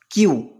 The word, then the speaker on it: queue: Sorry, actually it is also called by the other people, but is the exact pronunciation is queue.